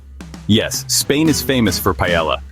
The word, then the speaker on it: paella: Yes, Spain is famous for paella, pronounced pa.